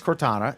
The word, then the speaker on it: Cortana: uh cortana how do i pronounce that alan cortana i think that's how you pronounce it yes it's not as good as google now yet and siri is a non-contender so tell me uh what is cortana and tell me um how uh siri is